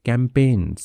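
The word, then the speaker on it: campaign: awareness कैंपेन ठीक है तो जी साइलेंट होता है इसमें कैंपेन यानी कि जो जागरूकता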